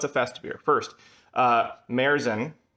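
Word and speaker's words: Märzen: festive beer first uh marezen i believe that's the current pronunciation merizen is the type of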